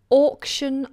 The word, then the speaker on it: auction: one is auction off auction off now look at how I pronounce this or auction so we have an SH sound like you're going Shh